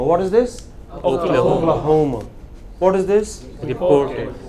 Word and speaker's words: Oklahoma: You know, does he pronounce this last sound? No, he doesn't. What is this? Missouri. And what is this? Oklahoma. Oklahoma. The stress is? Oklahoma. What is this? Oklahoma.